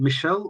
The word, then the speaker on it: Michel: So is it Michelle or Mikhail? Yes, Michel.